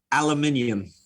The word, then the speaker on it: aluminium: I could not repeat the way you said Aluminum. Aluminium. Sounds sounds like everybody does that when they try to say it the British way.